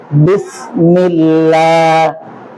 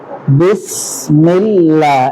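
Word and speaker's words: بسم الله: আপনারা ঠিক আছে আউজুবিল্লাহ বিসমিল্লাহ লা আগে ছিল জিব্বা উপরে এখন লা জিহ্বাটাকে আস্তে করে নিচের দিকে নিয়ে আসতে হবে আলহামদুলিল্লাহ হুজুর লেখা পালান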